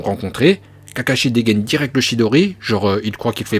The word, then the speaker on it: Chidori: Kakashi dégaine direct le Chidori genre il croit qu'il fait peur au chimaru qui ne bouge pas d'un cils plus tard Kakashi va enseigner le shidoli car c'est ça la prononciation VO chidoli à son disciple Sasuke